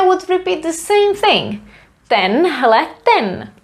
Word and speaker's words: tenhleten: Tenhleten. One word, tenhleten pán. This man here, or this one man. Tenhleten. I wrote it in a weird way, but we would spell it as a normal word.